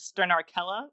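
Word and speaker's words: Sternarchella: his Twitter name is sterner akela which is amend how it's spelled but its ste are n AR C h-e-l-l-o Turner Kella it's the name of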